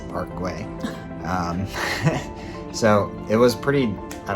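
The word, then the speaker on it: Park Güell: um i learned that it is not pronounced park well it's a parkway so it was pretty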